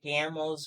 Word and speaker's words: Gamel: sorry and don't forget gamel's brother Gamble of course um even today many of those who are involved in money worship and honor sorry wrong emphasis on the wrong syllable even today many of